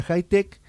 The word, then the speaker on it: Hitec: Que se escribe H I T E C, eh, pero no se pronuncia Itech, sino que se pronuncia high tech, que es una empresa